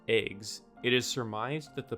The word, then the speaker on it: AIGS: Since this acronym is pronounced EGS, it is surmised that the person who named these is a descendant of the absolute moron who named AIMS.